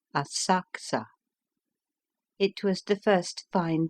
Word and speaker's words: Asakusa: Afterwards we went to visit the temple of Sensoji at Asakusa, spelled Asakusa, pronounced Asakusa.